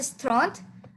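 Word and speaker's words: trente: And 30 you pronounce it stront.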